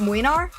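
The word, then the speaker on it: Mlynar: Loving this so far, but FYI Why not just pronounce it Mwinar? Oh oh okay okay the the Y has a has an E sound. Okay, Mwinar.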